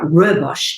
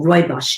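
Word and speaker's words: rooibos: high polyphenol content um such as there's a robosh tea or roy bosch tea which is an african red bush tea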